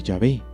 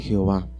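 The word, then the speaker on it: Yahvé: están de acuerdo que la manera original y primitiva de pronunciar el nombre de dios debía haber sido llave y no jehová llave es una forma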